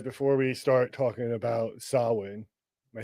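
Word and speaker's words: Samhain: Um, if you say Sam Hayne, um, S A M H A I N.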